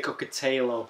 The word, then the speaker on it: Kokotajlo: Well, if you're Northern, we say Kokotajlo.